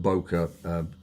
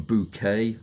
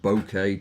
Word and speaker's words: bokeh: correct pronunciation was because I hear everything from bouquet to bokeh to uh to well just about everything. It's bow and then k is like kettle without the tul at the end.